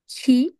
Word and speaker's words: qui: এটা যদি হতো তাহলে উচ্চারণ হতো ক। que আর এটা যদি হয় তাহলে হচ্ছে কি। qui.